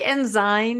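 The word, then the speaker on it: Ensign: ask it does but is this enine peak or enen Peak yeah what do you say they go both ways I've heard it both ways um yeah I think enzy is correct but when I grew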